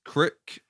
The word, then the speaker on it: Crick: Crick yeah so I I wasn't sure if it was Craig how you know Americans pronounced Craig in a an interesting way but I looked it up and it is like KR a i k or k-r-i-k so I didn't say